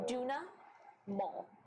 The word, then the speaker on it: Duna Maul: Duna Maul.